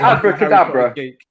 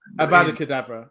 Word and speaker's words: Avada Kedavra: Is it abracadabra? Avada Kedavra. Avada Kedavra. Yeah. Is that the correct pronunciation?